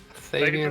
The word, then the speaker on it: Thavian: Thavian, thank you. Thavian. Okay, that's. I've heard it pronounced once or twice, and my brain is just like, so.